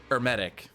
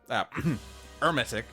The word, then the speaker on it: Hermetic: Which is at least something we can use to hit Hermetic. Hermetic. Hermetic. Now I'm getting myself confused. H is silent, the emphasis is on the second E.